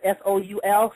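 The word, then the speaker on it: sol: When you get to the throat chakra, which is the word soul, S-O-L, pronounced S-O-U-L, soul, the first half of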